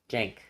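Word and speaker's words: Cenk: Like a J. Jank. Like Jank.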